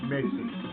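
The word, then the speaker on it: Mesen: We just spell M-E-S-E-N, Messen, which could be pronounced as Mason. Like the Mason-Dixon line.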